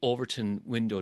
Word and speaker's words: Overton window: And then you introduce this term, if it's okay, the Overton window. Did I pronounce that correctly?